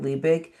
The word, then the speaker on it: Liebig: is a German name so I we do pronounce it liebig but it's li i e b i g and with a h.